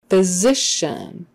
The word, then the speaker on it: physician: or o or drugstore physician the ph is enough that s is a z physician the ci is an sh physician in in or un